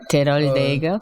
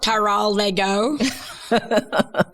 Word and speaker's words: Teroldego: No, I mean, like, how do they pronounce it? Teroldego. Yeah, Teroldego. Teroldego.